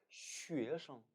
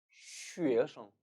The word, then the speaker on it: 学生: 我学生我学生 타이완에서는 원래의 성조를 모두 살려줘서 学生 학생을 学生이라고 발음합니다. 하지만 중국 대륙에서는 좀 더 발음을 편하게 하기 위해서 이 성 단어를 경성 처리해 주는 경향이 많아요. 따라해 보실까요? 学生, 学生. 어느 쪽으로 발음해도 알아듣는 데는 문제가 없습니다.